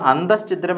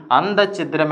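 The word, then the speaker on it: അന്തശ്ഛിദ്രം: കൊണ്ടുവന്നു യാദൃശ്ചികം യാദൃശ്ചികം എന്ന് കൊണ്ടുവന്നു അപ്പൊ നോക്കൂ ഈ ഉച്ചാരണ സൗകര്യത്തിന് വേണ്ടിയിട്ടാണ് പല വാക്കുകളെയും നമ്മൾ തെറ്റായി ഉപയോഗിക്കുന്നത് ആഭ്യന്തര കലഹം എന്ന അർത്ഥം വരുന്ന അന്തസ്ചിദ്രം എന്ന് പറയുന്ന ശരിയായ വാക്കിനെ നമ്മൾ എന്താക്കി മാറ്റി അന്തചിത്രം എന്നാണ് പ്രയോഗിക്കുക കാരണം എന്താണ് ഉപയോഗിക്കാനുള്ള സൗകര്യം മൂലം ഇവിടെ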